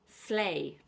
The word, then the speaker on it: sleigh: And lastly, we have Father Christmas's mode of transport, sleigh. Of course, we don't pronounce the gh.